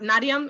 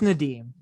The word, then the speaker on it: Nadim: a good game um is it not nadiam am i saying it correctly it's it's nadim oh no you're okay his name right mark levy my ass out not nadeem no short a d i i didn't